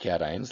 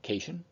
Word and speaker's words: cation: or negative positively charged cations like these sorry ions are called cations and it is pronounced cation not casein any Ion with a